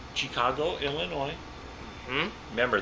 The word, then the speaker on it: Illinois: got that right Chicago Illinois hmm remember there's an S on it but you don't pronounce it that's right yes bourbon